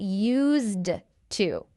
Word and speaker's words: used to: Well, I said use, but there's actually a D at the end of that word. Get used to. But we don't say the D.